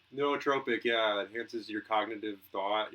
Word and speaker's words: nootropic: Neotropic? Nootropic, yeah, enhances your cognitive thought.